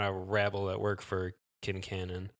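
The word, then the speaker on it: Quincannon: episodes of this podcast are probably saying Quinn Canon yeah and they're all saying kin Canon I'm like oh all right I get that it's probably correct more interesting pronunciation in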